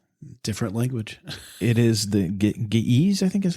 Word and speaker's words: Ge'ez: It is the Ge'ez, I think is how they pronounce it. I think it's Ge'ez.